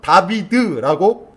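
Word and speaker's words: דוד: 달렛, 바브, 달렛은 영어로 하면 DBD예요. 히브리어로는 다비드라고 발음합니다.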